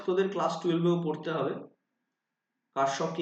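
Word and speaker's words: Kirchhoff: ক্লাসট এও পড়তে হবে কারসফকে ইংলিশে অনেকে কিরচপস বলে কারণ এর বানানটা ঠিক ওরকম কে আই আর C double H O double F অপস্ট্রপিস অনেকে কিরচপস ল বলে এর কারেন্টটা খুব ইম্পর্টেন্ট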